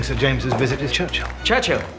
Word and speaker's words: Churchill: Churchill, that's how you say it, all together like that. I'd heard church and hill, but couldn't find either.